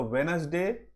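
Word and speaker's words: Wednesday: సో వెనస్డే, ఇక్కడ D silent.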